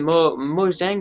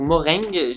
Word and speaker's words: Mojang: Donc bien sûr, c'est le développeur, donc c'est Mojang ou Moreng. Non, c'est Mojang, je crois que ça se prononce comme ça.